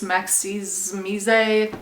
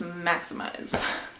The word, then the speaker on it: Maximize: It is spelled weird and a lot of people are like, oh, it's Maxiz Mise. It's not that. It is Maximize. But today I was asked by Legends of Monstera, really sick name.